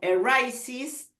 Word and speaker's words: arises: arises, for example, and in the case of arises, the I is pronounced.